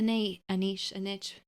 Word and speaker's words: niche: you didn't need a niche. What's the right way to niche? Niche, I believe, is the correct pronunciation. Niche. I'm not sure.